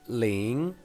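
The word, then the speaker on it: 零: So 0 we're gonna pronounce it ling, yi, er, 三四五六七八九十.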